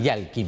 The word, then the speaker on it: Yael Kim: Bueno, lo presentamos y primero le pido disculpas porque pronuncié mal el nombre. Es Yalkin, sí. Ahí está bien.